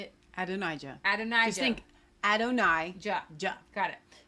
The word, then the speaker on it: Adonijah: Adonijah.